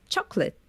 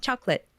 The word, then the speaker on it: chocolate: because of that but in English I know it's chocolate very short right just chocolate well in Portuguese as